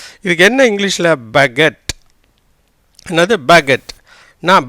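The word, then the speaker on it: baguette: அப்போ ரெண்டு டைம் இட்டு வந்தால் கொஞ்சம் ஓசையை இழுத்து உச்சரிக்கணும், கொஞ்சம் அதிகமாக உச்சரிக்கணும். இதுக்கு என்ன இங்கிலீஷில் பகெட், என்னது பகெட். நான் பகெட் டீ இல்லை, சரியா?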